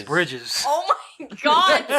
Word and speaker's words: Bridges: you said keto yeah she also said Jeff Briggs is it not Briggs pretty sure it's Bridges oh my God spell